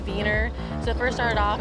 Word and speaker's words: Wiener: (laughing) (polka music) (exciting techno music) ANNA RIPPE: We say wiener dogs, but the German pronunciation would be viener.